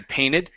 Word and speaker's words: painted: Okay, so when you have the the N t uh ed ending, you can drop that t and say painted.